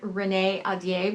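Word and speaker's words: Renée Ahdieh: The Wrath and the Dawn by Renee Adier. By the way, I looked up how to pronounce her name and that's how you do it.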